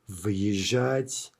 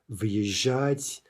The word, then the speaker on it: выезжать: Now note how I said that very carefully in order to keep the hard v, right? So if you want to practice pronouncing this, the trick is maybe to just pause ever so slightly, say v, right? That is hard v, and then kind of start over with your yeah, выезжать, въехать, right?